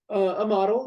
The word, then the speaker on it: Amatl: Am I pronouncing this right? Amatl? a model is usually the way. Yeah, Amatl.